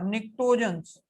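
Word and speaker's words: pnictogens: निक्टोजेंस, P silent था, निक्टोजेंस।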